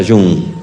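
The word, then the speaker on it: Young: Terminaba el domingo en una localidad se llama Yun. Se escribe Jun, le dicen Jun. Usted diga Jun.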